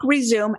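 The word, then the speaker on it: Rezoom: them in my book resume and for everyone who's gonna look up that book it's spelled r-e-z-o-o-m like zoom do it fast resume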